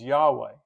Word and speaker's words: Yahweh: the consonants and so when you add the vows it becomes Yahweh y a h we h and what this does